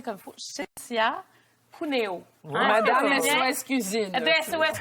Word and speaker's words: Cinzia Cuneo: parce que ça rejoint beaucoup, je vais le prononcer comme il faut, Chécia Puneo.